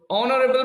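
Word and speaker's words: honorable: উচ্চারণ হয় হ দিয়ে কিন্তু এখানে এইচ এর উচ্চারণ হচ্ছে অ এর মত অনারেবল অ এর মত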